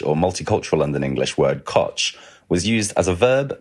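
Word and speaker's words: cwtch: school tra about it I would have pronounced the Scot the Welsh word quch because it's spelled like that but is is it not pronounced that way it's definitely co co to rhyme with Butch Butch uh essentially so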